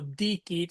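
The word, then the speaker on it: dicit: Um, but for the most part that first uh syllable dikit, you're going to emphasize that.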